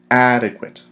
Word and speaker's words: adequate: today's word is adequate adequate how many syllables inadequate we got three syllables inadequate